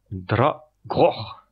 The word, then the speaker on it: Dragor: D'accord, alors je vais le reprononcer en sachant que ma prononciation du Klingon est pas parfaite non plus, hein, j'apprends, donc alors c'est Dragor.